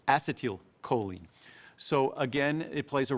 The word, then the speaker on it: acetylcholine: We have acetyl L-carnitine, but the first word of that acetyl is the same as acetylcholine. It's acetylcholine.